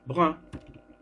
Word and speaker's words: bruns: J'ai les cheveux bruns. On ne prononce pas S.